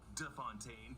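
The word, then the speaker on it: de Fontaine: It's not Fontaine, but DeFontaine, and mentions the Secretary of Defense as Anderson.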